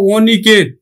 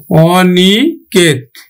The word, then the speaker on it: অনিকেত: নেতিবাচক অর্থে কিন্তু অ আবার অ এর মতোই উচ্চারিত হয়, নেতিবাচক অর্থে। যেমন দেখো অনিকেত, অনিকেত, অনিকেত।